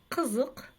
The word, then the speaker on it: қызық: Қызық, қызық. Буква «ы» читается очень коротко, будто бы ее вообще нет в этом слове.